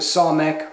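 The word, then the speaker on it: samekh: Okay, so now we come to the somek, which I confused before. This is an S sound, S, somek, somek.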